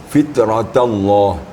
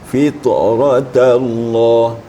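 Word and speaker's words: فطرت الله: Ini kalau tidak hati-hati, ta istifal ini menjadi tebal, ya. Jadi makanya kita harus hati-hati. Fitratallah, fitratallah. Tapi bisa jangan berembek pula kepada ra jadi tipis. Fitratallah. Ini agak sulit bacanya.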